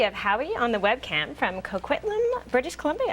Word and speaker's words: Coquitlam: on the webcam from coquitlam british columbia i'm glad you said that i know barely got it out actually did she say it right howie yeah it was perfect coke right yeah cool that's